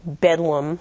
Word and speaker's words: Bethlehem: You may have heard of the term that something is like bedlam, or bedlam has broken loose. That's a reference to the hospital of Bethlehem Hospital, which is pronounced Bedlam.